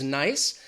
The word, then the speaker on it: Nice: You could say something or someone is nice. If we capitalize that N, then suddenly it becomes the name of a city in France. And the pronunciation changes from nice to Nice.